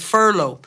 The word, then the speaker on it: furlough: before, was the word furlough. And the fact that it's spelled Furlough makes it sound like a remote town in the west of Ireland.